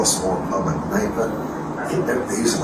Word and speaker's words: Kneipe: a small pub a Kneipe. I think they use a lot of K-N words. Okay, how do you say it? K-N-E-I-P-E. Okay. Kneipe. So it's really a Kneipe.